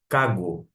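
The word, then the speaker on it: κἀγώ: E de uma forma que ocorre na contração, você pronuncia e escreve tão somente cago. Você tira o iota, portanto.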